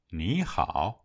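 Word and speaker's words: 你好: Ví dụ: nǐ hǎo được phát âm là níhǎo. Nhắc lại sau tôi: níhǎo.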